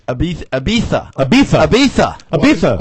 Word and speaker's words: Ibiza: oh no the man was uh vacationing in ibiza is that the correct pronunciation of the resort town yes he got